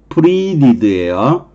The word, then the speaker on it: pleaded: 그 다음에 the prisoner, EA가 있으니까 발음이 장음이 나는 거예요. pleaded예요.